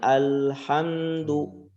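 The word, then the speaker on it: الحمد: Dan lam ketika sukun, ya dia disempurnakan pengucapannya alhamdu. Tidak boleh tidak boleh mantul atau alhamdu. Ya, disempurnakan bal ketika dia sukun bal dan diletakkan lidah itu di atas. Alhamdu tidak langsung buru-buru diangkat.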